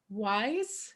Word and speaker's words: Weiss: with us today wise and he told me i was asking him how do i say your last name any good rhymes with nice okay that's not easy